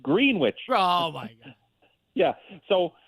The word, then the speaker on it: Greenwich: They pronounce it green witch.